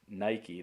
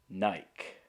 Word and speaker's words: Nike: thought that you pronounced Nike, the shoe brand, Nike, like technically. As it appears it should, rhyme with Mike and like.